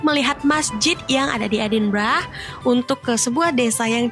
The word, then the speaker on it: Edinburgh: meskipun dari tulisannya itu mungkin kita berpikir cara pengucapannya adalah edinburg tapi sebenarnya cara pengucapannya adalah edinbra guys nah edinbra ini